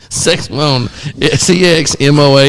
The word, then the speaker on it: Sexmoan: Sexmone, Sexmoan. There's no other way We're getting out of hand. to pronounce that.